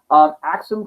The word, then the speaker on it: Axum: One thing you'll notice, you'll see Axum spelled A-K-S-U-M and A-X-U-M. You'll see them both. They're pronounced the same way, but it doesn't matter anymore because we don't call it Axum.